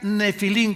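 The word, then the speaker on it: נפילים: días 120 años había nefilim con pH como suena nepil se escribe en el hebreo se pronuncia nefilim como si fera F de Francisco había nefilim que se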